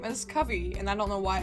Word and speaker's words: Kavi: I know I said her name is Kavi in the actual opening part, but American Girl confirmed the pronunciation of her name as Kavi, and I don't know why I pronounced it